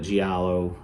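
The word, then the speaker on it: giallo: i a l l o and I probably mispronounce it all the time but Galo um but anyway it's great genre super cool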